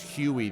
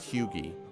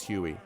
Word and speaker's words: Huey: I think he pronounced it Huey, though, not Hughie. His nickname, as he pronounced it, was Huey, so...